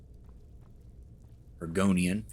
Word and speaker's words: Argonian: haven't found the lusty are going gornian made argonian that's how you pronounce it we'll find that book eventually why